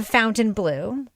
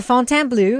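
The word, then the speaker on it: Fontainebleau: pronunciation of the hotel it's not the fountain blue it's the Fontan blue it's like the French version of it they go back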